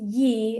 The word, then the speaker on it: Yee: And then I say, "My last name's pronounced ye.